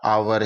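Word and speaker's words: hour: आ रहा है तो यहां पर भी एच है वो साइलेंट हो जाएगा इसका आवर ही हम उच्चारण करेंगे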